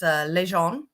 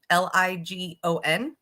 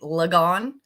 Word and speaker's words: Ligon: It's Ligon, Ligon. So it's in America, it would be Lagon, but it is French, and that's how we pronounce it.